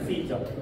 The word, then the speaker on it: 카이사르: 우리는 카이사르라 부르고 영어식 발음은 시저입니다. 시저.